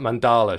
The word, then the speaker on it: Mandala: grass and uh i i said mandela not mandala should have been there i'm